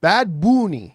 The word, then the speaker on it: Bad Bunny: they of course had this big halftime show with Bad Boon. uh uh the way I was taught to pronounce it when I went to